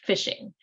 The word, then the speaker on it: phishing: Netflix or Facebook and this is called phishing that was the the word that one of our vocabulary words that looks like spelled like this fishing and it's called fishing